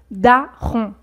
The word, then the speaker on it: daron: Donc au niveau de la prononciation, c'est pareil que l'adjectif bon au masculin, bon, bon, daron.